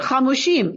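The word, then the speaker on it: חמשים: The Vav is missing, but we pronounce it Hamushim.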